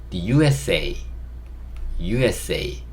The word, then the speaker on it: the USA: 여기도 이제 U가 모음이기 때문에 이걸 더라고 발음하지 않고 D라고 발음을 하고요. U, 요거는 S, 요거는 A, the USA 이렇게 발음을 합니다.